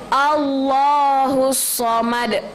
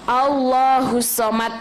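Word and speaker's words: الصَّمَدُ: a.lav tool jalalah a Allah husomad pakai huruf bukan pakai huruf Sin Jadi enggak boleh allohu Somad tidak jadi tuh shot sosis uh kemarin kita baca dulu so so sweet so allohu somet sama di akhirnya adadal jadi harus di pantulkan ada Qalqalah allohu Somad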